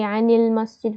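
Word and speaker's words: عَنِ الْمَسْجِد: Now when an comes before alif lam, it gets a kasra, again for easier pronunciation. So you'd say anil masjid, for example.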